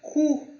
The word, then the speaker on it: cou: Agora, o típico exemplo, o O e o U tem som de U, como na palavra cu.